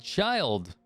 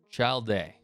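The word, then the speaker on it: Childe: and then we have child or child day or i don't i think the first way i pronounced it was actually correct uh which we know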